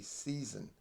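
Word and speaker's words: seisin: I I would pronounce as seizen is actually seasoned and if you're in the UK it would be cyan so if you might hear me say seizen still just remember it's the same word as what is commonly referred to as season now before I continue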